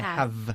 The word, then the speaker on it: have: Muy bien, la V es muy importante aquí. Ojo que nosotros, como hemos dicho ya, diferenciamos entre la V y la B. I have, no es I have, ¿eh? Okay, I have. Se forma este sonido con los dientes.